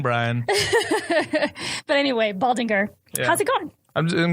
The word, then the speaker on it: Baldinger: And so Baldinger, which is how I've always pronounced it, but I was like...